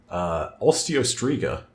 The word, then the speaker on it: Osteostriga: Osteostriga, which we get the confirmed pronunciation on that, thank God, I wasn't too far off.